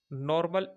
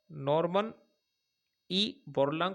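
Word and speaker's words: Norman Borlaug: पर दिया जाता है नॉर्मल ई नॉर्मन ई बोलांग पुरस्कार थोड़ा उच्चारण में ध्यान देना सही है और इससे जुड़ी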